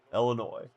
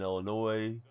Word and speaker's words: Illinois: If you pronounce the S in Illinois, she'd hit you with the yardstick.